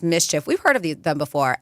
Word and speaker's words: MSCHF: assuming yeah um and it's a company that's pronounced Mischief we've heard of them before mschf I think